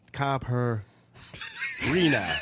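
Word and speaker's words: caipirinha: popular drink is uh kai purina c-a-i-p-i-r-i-n-h-a with pronunciation of copper reena you know hey our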